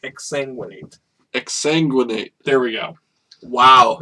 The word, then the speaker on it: exsanguinate: don't know how to say accentuate exsanguinate it's exsanguinate exsanguinate there we go wow you're were the